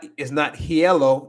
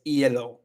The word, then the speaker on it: hielo: It's not hielo. It's not hielo. It's hielo. It's hielo.